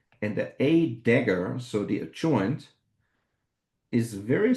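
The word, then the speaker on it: A†: So we pronounce this as A dagger. It's not a plus because it's more like a cross. So it's an A, or in the visualization, a dagger. So A dagger.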